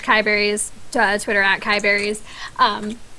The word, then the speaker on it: KiyeBerries: so uh starby and is it KY berries is that how I pronounce it that is so KY berries who are you what